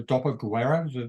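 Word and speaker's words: dopoguerra: I mean, so we're talking about the stories starting, as you said, immediately post-war in the Doppelguerra, do they call it? Yeah. Am I pronouncing it yes, correct?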